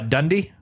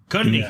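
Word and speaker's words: Cundey: Dundee? Cundy.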